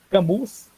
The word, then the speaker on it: Camus: Escreve Camus, mas no francês o U você pode pronunciar I e o S não precisa pronunciar. Então ficaria Albert Camus.